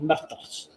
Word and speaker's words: murder: they pronounce murder in an unusual way. Myrtle. Murder. Myrtle. Murder.